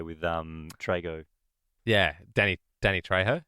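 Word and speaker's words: Danny Trejo: Danny Danny Tjo.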